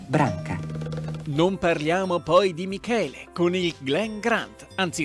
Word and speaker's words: Michele: volta per tutti che si pronuncia Michele e non Michele Michele ma ora arriviamo